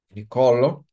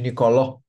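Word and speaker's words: Niccolò: nome é pronunciado incorretamente no italiano nós vemos o nome Nicolo em vez de nicoló machiavel como muitos eventualmente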